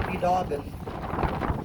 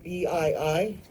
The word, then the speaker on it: Biidaaban: And the incentive will be from this school named Biidaaban fulfilling its own prophecy, which will be more or less the day will come.